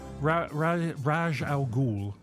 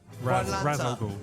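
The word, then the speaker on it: Ra's al Ghul: Raj Al Ghul. Raz Al Ghul. Final answer. Yes. Very No, I good.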